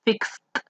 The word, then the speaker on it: fixed: Fix es el verbo base. El pasado sería fixed, una T.